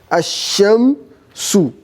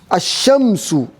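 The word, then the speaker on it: الشمس: So, Ash-Shamsu, you are hearing Ash-Shamsu. This is how we write it, the way we hear it. The way you are pronouncing it, that's how you write it. Ashamsu. Because it's going to be sheen with what? Shadda. That means the first sheen is sukun, the second sheen is fatha.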